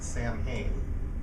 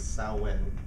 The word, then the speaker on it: Samhain: Now, if you've seen this written down, I've always thought it was pronounced Samhain, but apparently the Gaelic pronunciation is Samhain, or something close to that.